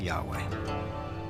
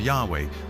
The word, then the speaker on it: YHWH: So his title, in a sense, was God, and his name was these 4 letters, which in English would be YHWH, which we think were probably pronounced something like Yahweh.